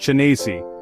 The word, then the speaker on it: Zenesi: So, we know the name of their priest was called Zenesi, pronounced Chenesi.